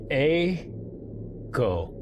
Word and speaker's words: Eiko: Okay, it's Japanese. Eiko. Eiko. First place, A, it rhymes with snow. Eiko. Cool. Thank you. So the E and the I actually create one vowel sound then.